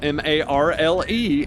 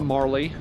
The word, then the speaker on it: Marle: Fantasy VII Remake, there's a woman named Marle, M-A-R-L-E, and it's pronounced Marle, which is how I always pronounced it as a kid, so I feel redeemed. Stupid English with its vowels that you can pronounce two, three different ways. A lot of people pronounce it Marley.